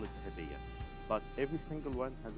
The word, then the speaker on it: Dahabiya: Dahabiya. Dahabiya. Yeah. That's actually all the boat on the Nile River, we call it Dahabiya.